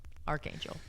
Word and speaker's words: archangel: Archangel. It's actually, that is arch, but that's just, I know it's arc, but it's spelled arch.